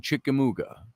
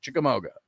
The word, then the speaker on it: Chickamauga: they drove them away to the mouth of the big chickamooga now i think i'm pronouncing that right although you southerners down there you know what i'm talking about the chickamauga is what it looks like chickamauga and there's a certain